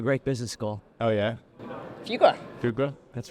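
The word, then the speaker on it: Fuqua: went to a great business school oh yeah fuga fuga that's right we're both Blue Devils and pronounce it right by the way my my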